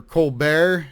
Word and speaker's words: Colbert: game to my opponent Colbert that was uh or or colar if if you're going with the French pronunciation very good fight a